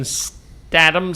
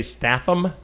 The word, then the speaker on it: Statham: A Working Man with Jason Statam Stadium. How do you say that? Statam. I don't know for sure though. Stat. It looks like you should say Statham, right? Statam. Statam. Ham. Ham. Jason Statam.